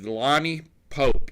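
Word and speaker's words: Lani Popp: Lots of P's, but yet it is pronounced Pope.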